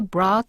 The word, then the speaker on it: brought: 일몰 이후 the people brought to Jesus all the sick and demon possessed. 네, 사람들이 brought, 네, 이것도 잘 알아두시지 않으면 알아보기 힘든 과거형이죠. 데리고 오다라는 bring의 과거형입니다. 여기 GH는 묵음이라서 발음이 안 되죠.